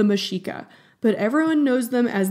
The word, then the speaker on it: Mexica: Okay, and I'm going to be a little snooty here, but the actual name for this group is the Mexica, but everyone knows them